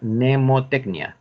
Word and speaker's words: mnemotecnia: Sino que en la segunda debe decir mnemotecnia, tal cual suena. Mnemotecnia. Cualquiera de las dos es válida. Así la primera, mnemotecnia, con M, o sin ella, mnemotecnia.